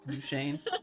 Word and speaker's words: Duchesne: Can you pronounce Tooele? Yeah. Tooele, yeah, because we Tooele. live in Utah. Or Duchesne? Duchesne?